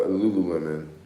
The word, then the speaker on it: Lululemon: Lululemon. Lululemon. Us black people always gotta repronounce everything. But it's actually called Lululemon, but I call it Lemon.